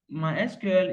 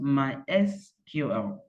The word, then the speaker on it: MySQL: So officially, MySQL is pronounced MySQL, not MySQL.